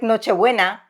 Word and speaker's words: Nochebuena: It's just like Nochebuena.